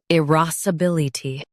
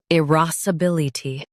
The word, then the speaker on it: irascibility: irascibility Now, read the syllables shown on the screen naturally. i ras uh bil i tee irascibility Stress ras and keep bil soft.